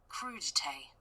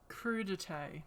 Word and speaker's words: crudité: Do I really need to watch a 10-minute video on how it's pronounced? Crudité. Crudité. Crudité.